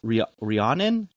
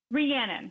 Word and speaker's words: Reannon: So is it's pronounced Reannon? Reannon. Reannon.